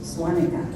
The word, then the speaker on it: Svanikia: missionaries who spoke German, they changed the name of the Svanikia to Swanika with a V, because in German you pronounce W-V. So now, among the Gas, the name Svanikia is actually pronounced Swanika and considered a Ga